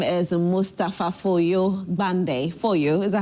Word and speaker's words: Foyo: Name is Mustapha Foyo Gbande. Foyo, is that how it's pronounced?